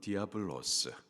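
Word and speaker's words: διάβολος: 성령에 이끌려서 마귀에게 시험을 받았는데, 마귀, 헬라식 발음으로는 디아블로스, 그 뜻은 중상모략을 일삼는 자, 살인자라는 뜻입니다.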